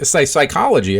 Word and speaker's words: psychology: is a Greek word we know that because of the silent P at the beginning of psychology um and it's it